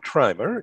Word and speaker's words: Trimer: And here we are today with Trimmer in North Carolina.